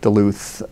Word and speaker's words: Duluth: same way yes I wanted a setting like Duluth for the books beacon Duluth is named after